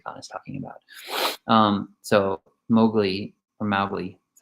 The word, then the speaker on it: Mowgli: So Mowgli, that's how you say it, Mowgli speaks up and says to him, finally asks, like, what is this?